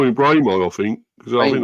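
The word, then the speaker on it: Mbeumo: Well, I call him we call him Brao, I think, because I think that's really because you don't pronounce the M apparently. So, it's Brao.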